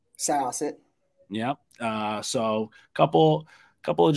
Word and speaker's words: Syosset: Syosset? Syosset.